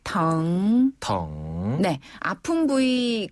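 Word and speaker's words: 疼: 중국어로 아프다라는 표현은 덩이라고 해요. 덩. 예. 아래에서 위로 부드럽게 덩 덩네 아픈 부위 그 글자 뒤에다가 덩자를 붙이면 어디가 아프다 이런 표현이 되거든요.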